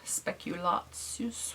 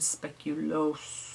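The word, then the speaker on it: speculaas: how Daniel pronounced it speculas which is the German way but there's speculas which I think is the Danish way and speculo which is the Belgian way it's a Christmas cookie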